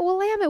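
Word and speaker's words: Willamette: wamit Valley she's like that's how you say it wamit we all were saying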